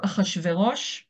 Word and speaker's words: Achashverosh: So Hebrew Achashverosh is for Persian Shayarsha because classical Hebrew can't say names that start that start with sh. So we added a prothetic aleph.